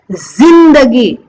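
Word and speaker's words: ज़िंदगी: मुझे कैसे बोलना है, जिंदगी जिंदगी। वहां पे हमें ज को जो है ना जेड प्रोनाउंस करना है, जिंदगी, ठीक है।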